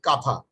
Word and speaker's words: kantha: It's if I understand correctly, that's called kantha. Yes, kantha. Kantha. In Bangla we say it katha. Kata, sorry. Yeah, we say it katha, but we spell it like kantha. I see.